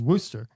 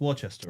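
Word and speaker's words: Worcester: ironically gets me is the ship Wester is Worster it's pronounced Wester right no it's Worster it's but in in English like in England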